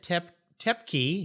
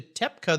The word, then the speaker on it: Toepke: He just said Toepke. He's changing it kind of to Toepke, the German pronunciation, right?